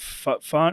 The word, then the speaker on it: Fine: Is it Fine? How do you say his name? Latu Fine. Finer, yeah.